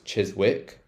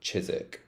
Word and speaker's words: Chiswick: mispronounce this one as Chiswick Chiswick so this one is actually pronounced chisik so we don't want to pronounce that W sound it's like a silent W so chisik chisik park